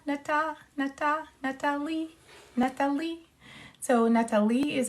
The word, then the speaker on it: Nathalie: The thing about my name is that the intonation is at the end, so Amélie, like Amélie, so it's Nathalie, Nathalie.